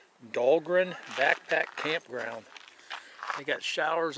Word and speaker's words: Dahlgren: got looking on my phone pronounce this right dahlgren backpack campground they got showers over there bathrooms hot water showers that's nice right on the uh it's dahlgren d-a-h-l-g-r-e-n mile marker one zero four three point